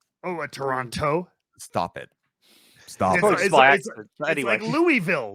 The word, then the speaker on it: Toronto: said toronto toronto oh you don't say the t oh a toronto stop it stop it